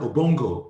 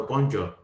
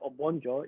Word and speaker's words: Obonjo: So it's a racist term, Obongo, rather than Obonjo. And it took them a while before they could pronounce my name properly.